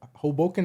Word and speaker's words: Hoboken: you was coming from, your mom always represent Hoboken.